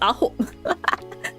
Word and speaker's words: AHOF: Oh, it's literally just Aho. It's spelled AHOF and they're pronounced Aho. Like, number 9.